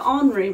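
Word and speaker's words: Henri: my mum's um french i always pronounce the h's like ornery but it's henry so anri matisse cat with redfish maybe you could sign it i wonder if henry matisse would be happy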